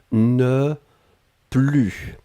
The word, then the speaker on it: ne plus: ensuite plus et là on ne prononce pas le s ne plus d'accord je n'en avais